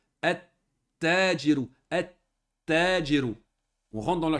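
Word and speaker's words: التَّاجِرُ: Quand on fait rentrer alif lam, on ne prononce pas le lem. On va prononcer comme ceci. Naturellement, la colonne ici, on n'écrit pas comme ça. Hein? On le prononce comme ceci, mais on l'écrit comme ceci. On va dire at-tajiru.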